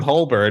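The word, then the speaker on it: Holborn: it and I'm like coming to you from hir and everyone's like well that's not how you say it so it was just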